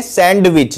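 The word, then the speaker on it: sandwich: बहुत से लोग इसको बोलते हैं सैंडविच जो कि गलत होता है, इसमें डी साइलेंट रहता है।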